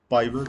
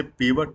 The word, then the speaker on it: Pivot: यह advance Excel का एक बहुत ही इंपॉर्टेंट फीचर है और जिसका नाम है पाइवट टेबल और जिसे पीवट टेबल के नाम से भी उच्चारण उसका किया जाता है।